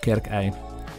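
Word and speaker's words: Kerkae: Water in the foreground here is called Kerkei. The AE is pronounced I and is an old generic word for flowing water.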